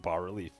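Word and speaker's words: bas-relief: to destroy the water leaf that's how you pronounce it bar relief that rises from the foot of this pillar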